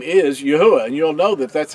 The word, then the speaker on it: Yahweh: it and he'll reveal that his name is Yahweh and you'll know that that's how his name is pronounced and it's important for us to tell